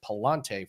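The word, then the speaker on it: Pallante: I believe it's Aaron Nola for the Phillies, and I believe his name is pronounced Palante for the Cardinals.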